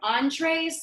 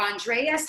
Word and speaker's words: Andres: And, do you say your name Andres or Andreas? How is that pronounced exactly? You got it right the first time.